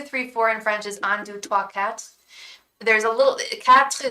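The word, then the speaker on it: quatre: four in French's and Cat there's a little capsu spell is spelled q-u-a-r-t-r-e kind of like quarter but it's pronounced cat and if you're really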